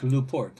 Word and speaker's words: LaPorte: Chicago's ranked luport and told in Italy is pronounced in Newport he was born in 1900 he died in 1972 November 2.